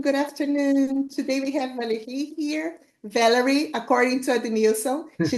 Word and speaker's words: Valerie: Today we have Valerie here. Valerie, according to Adenilson, she didn't like to hear that because she's French, so her name has to be pronounced in a French way, Valerie.